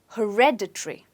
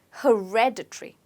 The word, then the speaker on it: hereditary: hair okay when it's supposed to be stressed on red so you say it as hereditary okay hereditary say it again hereditary right so as you notice there is this syllable in between red so if you remember red you will be able to remember the pronunciation let's look at an